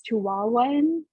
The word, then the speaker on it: Chihuahuan: say it right it's chihuahuan like chihuahua chihuahua and ravens and they